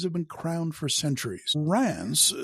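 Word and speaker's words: Reims: been crown for centuries Rance spelled re Ms is one of the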